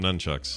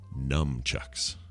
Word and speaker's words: nunchucks: Or as I called them in junior high, numchucks. That's what I call them. Nunchucks, yes, exactly. As I almost called them a minute ago. Oh, you did? I didn't hear you. Because you hit yourself hard enough, you'll be numb.